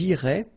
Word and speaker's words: iraient: if you look carefully, you get A-I-E-N-T. Okay, but then phonetically it goes like E. Okay, so technically these form and these forms here are pronounced the same way, and it goes like irait.